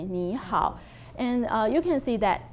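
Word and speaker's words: 你好: Then we will start with Ni hao.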